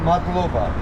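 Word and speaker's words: მადლობა: Matloba.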